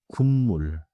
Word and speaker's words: 국물: One pronounciation note. 국물 is written 국물. But in natural speech, it sounds like 군물. So 국물로 sounds like 국물로.